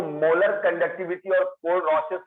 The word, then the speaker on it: Kohlrausch: ठीक है, molar conductivity, and इसको अच्छे से एक्सप्लेन करता है KOHLRAUS, कोल-रॉसेस लॉ। कोहल लिखा हुआ है पर एच साइलेंट है, RAUSCH, कोल-रॉसेस लॉ।